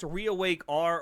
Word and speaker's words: ReawakeR: OP was re is it supposed to be pronounced reawake R or reawakeer.